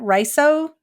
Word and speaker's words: Riso: development is um I don't know if I'm pronouncing the first name correctly is it Riso rice oh Hudson Riso Hudson okay I've only ever seen it in